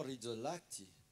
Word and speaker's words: Rizzolatti: C'est un certain Giacomo Rizzolatti. Je prononce bien?